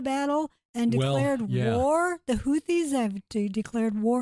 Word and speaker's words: Houthis: and declared war the houthis have declared war or I pronounced it houi or houti I've heard it both ways yeah so that group